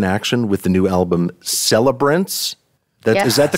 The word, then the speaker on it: Celebrants: And Nickel Creek back in action with the new album Celebrants. Is that the correct pronunciation?